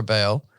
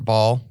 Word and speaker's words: Baal: Then he set up an altar for Baal, or Baal, however you prefer to pronounce that, in the temple of Baal, or Baal, which he had built in Samaria.